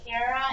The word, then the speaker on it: Kara: My name is Kara. Rhymes with just like yours, but with a K. Kara and Sarah.